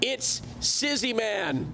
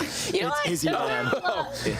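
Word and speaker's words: It'sIzzyMan: We've got It's Sizzy Man. That's right. And then we've got Carter. I I butchered your name, didn't I? Yeah. Yeah. It's Izzy, man. It's Yeah, you butchered that.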